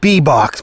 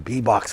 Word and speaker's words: Bebok: I would pronounce it Bebok, B-E-B-O-K, if I were to pronounce it, but here in Katowice, I believe it's pronounced Beboks. I don't know what the plural is.